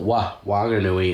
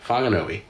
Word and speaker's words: Whanganui: uh here in wanganui the local ewe don't pronounce the whs with an F sound so although it's w h wanganui it's still wah wanganui not whanganui so there you go that's about the only